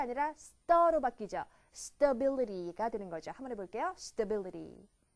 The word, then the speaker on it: stability: stable 자 그런데 안정성이라고 하는 명사 보세요 모음 발음이 바뀝니다 가 아니라로 바뀌죠 stability 되는 거죠 한번 해볼게요 stabil 한번 더요 stabil